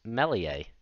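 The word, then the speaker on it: Meslier: going to mispronounce it I believe it's Melia the leads goalkeeper so you know the s the E and the r all silent but the initial save by Melia put back by Kane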